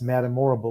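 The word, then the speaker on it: Madame Morrible: puppet master and that's Madamorble, which is not a coincidence. It rhymes with horrible.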